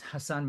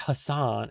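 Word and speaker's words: Hasan: It's not Hassan, it's Hassan. That's how he pronounces his name.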